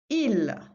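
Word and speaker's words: ils: Il, with an S, it's they. Again, you do not pronounce the S. Il, il.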